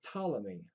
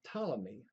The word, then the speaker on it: Ptolemy: Now, way back when, in the early Greeks, we had a philosopher named Ptolemy. That P is silent. Ptolemy had a very complicated system for how the universe and the solar system worked.